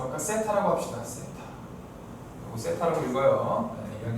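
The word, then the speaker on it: θ: 이거 세타라고 읽어요.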